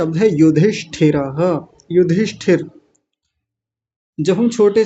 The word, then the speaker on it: युधिष्ठिर: पहले युधि को अलग कर लीजिए। युधि और इसी में यह मूर्धन्य श भी जुड़ा हुआ है। ये श षटकोण वाला युधिष्ठ अब इतना कर लीजिए युधिष्ठ ये आधा है तो मैंने इसके नीचे हलंत लगा दिया युधिष्ठ और ठिह या ठिर युधिष्ठिर युधिष्ठिर और हमारे में विसर्ग भी